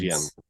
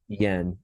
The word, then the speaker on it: Jens: Everyone calls him Jens, but the way he pronounced it in Danish is Yen. Okay. Yeah. Yen, like the Chinese money, the yen.